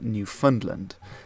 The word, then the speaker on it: Newfoundland: George was raised by John Cabot over Newfoundland, as it's pronounced.